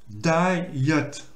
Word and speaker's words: diet: Là, comme je dis, il faut bien marquer les 2 syllabes. Donc là, c'est un mot en 2 syllabes. Donc c'est pour ça que j'ai dit que ça se dit diet.